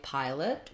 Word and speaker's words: pilot: Again, longer on that first syllable, pi, and then lit is going to be short with, again, our I or our sound, a reduced vowel. So no O sound.